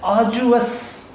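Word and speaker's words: arduous: तो अब मैंने इसकी प्रोनाउंसिएशन लिख दी है आर्जुअस, आर्जुअस, इसमें आर प्रोनाउंसिएशन में मौजूद नहीं है। So this is British pronunciation आर्जुअस, इसका मतलब मुशक्कत तलब, कोई मेहनत वाला काम।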